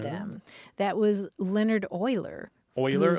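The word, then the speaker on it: Euler: that was Leonard Oiler Oiler like o i l e r Oiler well it's spelled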